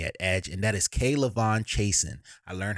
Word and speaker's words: K'Lavon Chaisson: there for me at edge and that is K'Lavon Chaisson. I learned how to say his name in his press conference. K'Lavon Chaisson.